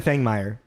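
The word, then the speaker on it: Fangmeier: me look like an Stephan Fang me okay cool yeah Stephan Fang thank you you're the pronouncing guy uh step F marer who is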